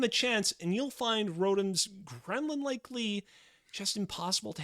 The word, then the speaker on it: Rotom: Consider Rotom, also known as Rotom, depending on how you pronounce his name, which is an electric ghost-type Pokemon introduced in Generation 4.